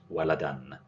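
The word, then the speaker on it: ولداً: Because it's tanween al-fath, it's pronounced waladan.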